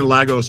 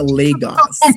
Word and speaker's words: Lagos: Let's keep um, you know, you know, going through different um parts of Lagos Island."